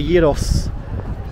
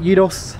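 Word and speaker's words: gyros: tastier than a kebab say Yos g y r o s i that's how you pronounce it Yos do correct me if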